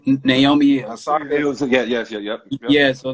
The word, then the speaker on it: Naomi Osaka: Naomi Osaka.